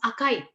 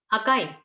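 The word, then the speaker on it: あかい: this is a so when you combine it and pronounce it together it becomes akai akai akai is the word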